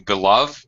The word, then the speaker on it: beloved: really a word so if it's if the root word is not a verb does not have a verb form pretty much you're always going to pronounce the extra extra syllable be so this is beloved my beloved Charles there's